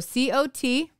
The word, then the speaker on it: cot: CA you ght caught I am northern because I pronounce them different as southern people say cotton cot but I say cot and caught did you hear the inflection is different so maybe that's why